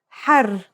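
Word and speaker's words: حار: For example, here are 2 words that have the same letters but are pronounced differently and have different meanings because of the difference in voweling. Har means hot, while hur means free.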